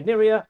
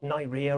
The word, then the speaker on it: Niria: My mother-in-law was called Niria, and she always used to say Niria rhymes with Syria, so it's not Niria or whatever.